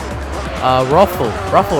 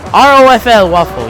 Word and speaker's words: ROFL Waffle: So that's not how you say his name. Ruffle, right? Ruffle. ROFL Waffle, yeah.